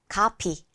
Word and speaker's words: copy: 이때는 입술끼리만 만났다가 팡 터트리면서 발음이 납니다. copy.